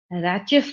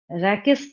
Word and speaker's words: rachis: इसको हम लोग रैचेस बोलते हैं, कई टीचर इसको रैकेस पढ़ते हैं। जो भी कीजिए, स्पेलिंग वही रहेगी, स्पेलिंग तो नहीं चेंज होना।